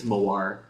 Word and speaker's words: Mawar: Most people pronounce it Mawar. I think it's Mawar. Okay. But I think is it Malaysian? I think it's a Malaysian word for rose.